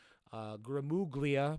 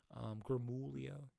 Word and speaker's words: Gramuglia: Gramuglia, but the G is silent. I only say that because it kind of just helps for me. Gramulia.